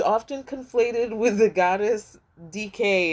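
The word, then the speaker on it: Dike: conflated with the goddess DK is how I'm going to pronounce it because it's spelled D I K E. DK is what we're going to say.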